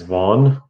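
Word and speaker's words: Vaughan: wherever you go and it says vaughn it's spelled v-a-u-g-h-a-n it's vaughn apparently chicago made made impounded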